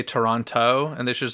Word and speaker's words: Toronto: My friend in Toronto was very mad that they pronounced the second T in Toronto if they're supposed to be from there. But why did they say Toronto and they should have said Toronto?